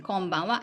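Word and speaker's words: こんばんは: For example, konbanwa and konnichiwa. So these 2 is also ha. We use ha, but pronunciation wa. Konbanwa, konnichiwa.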